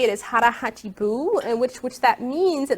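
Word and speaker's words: 腹八分: It's a philosophy, and how you say it is hara hachi bu, and which that means in Okinawan Japanese is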